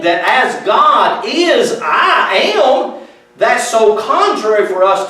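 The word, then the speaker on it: עם: I want you to, P-E-O-P-L-E in Hebrew is the word, it's spelled like that. We would call it am.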